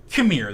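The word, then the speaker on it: Qimir: So, on and off, Saul and Khmer. That's his name. Khmer. It's spelled Qmir. Khmer.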